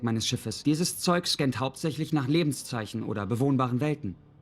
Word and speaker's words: hauptsächlich: So hauptsächlich, you might find a bit of a challenge pronouncing that. If you do, try to practice it throughout consecutive days. Yeah, don't practice it in one go. Start with the and, with lich.